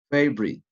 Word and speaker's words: favorite: Favorite. Favorite. Perfect. Letter O and U is not pronounced here.